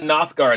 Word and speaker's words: Nothgard: check it out yeah anyway let's talk about nothguard am i pronouncing that correctly by the way yeah absolutely